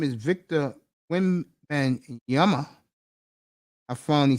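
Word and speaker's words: Wembanyama: NBA Mega star and his name is Victor when and Yama I finally said it right and I was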